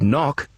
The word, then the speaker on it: knock: b on the end or in the word knock you don't hear the k at the beginning do these words have